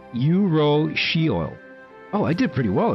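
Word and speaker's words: urushiol: Pronounced yurro oil.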